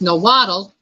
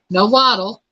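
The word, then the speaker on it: Nahuatl: it's pronounced it's pronounced no waddle it is spelled n-a-h-u-a-t-l and it's pronounced no model also means testicles what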